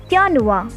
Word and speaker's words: Januar: is january which in german is called is yanua second is february called is febual march is different in pronunciation it is called as mayors then april